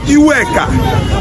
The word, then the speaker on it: Eweka: The first Oba of Benin, Oba Eweka, Oba Iweka, E-W-E-K-A, Iweka. They pronounce it Eweka.